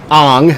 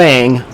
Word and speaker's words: Ong: We have Damakan Kayan playing Ong, not Ang, Ong. Let's be very clear about this.